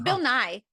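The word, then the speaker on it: Bill Nighy: say his name it's Bill NY just like the Science Guy but it's not um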